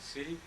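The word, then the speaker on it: 四: and which we pronounce C, the same pronunciation for death.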